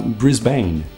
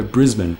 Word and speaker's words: Brisbane: ficar falando Brisbane, mas os americanos têm mania de falar Brisbane, e os australianos não gostam disso porque o correto é Brisbane.